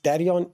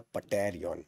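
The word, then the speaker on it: pterion: But yes, tarion is the perfect answer. Very good, right? Not the patarion, right? P is silent.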